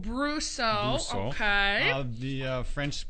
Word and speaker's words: Brosseau: me to pronounce French names well I always pronounce it brusso brusso okay I love the French people tend to